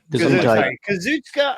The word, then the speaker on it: Kazuchika: Kazuchika Ohkada is all elite.